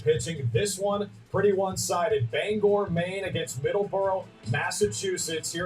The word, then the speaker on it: Bangor: against that fishing staff it is bangor not banger we check just to